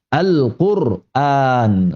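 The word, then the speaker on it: القرآن: Kita sesuai dengan qiraat yang kita lazimi, riwayat Hafz dari qiraatnya Imam Asim, kita baca dengan ro sukun dan hamzah yang panjang Al-Qur'an.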